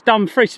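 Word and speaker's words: Dumfries: Uh just look towards dumbfree, mate. Says that's the only way to pronounce it correctly.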